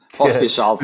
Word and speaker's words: Pospieszalski: Welcome everybody to Dad's Gone Crypto, and today we have a fascinating guest, Michał Pospieszalski. Did I get that surname correct? Yeah, you did. Oh, Pospieszalski, who's but for the first Pospieszalski?